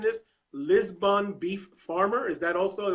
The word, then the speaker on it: Lisbon: You are am I pronouncing this? Lisbon beef farmer.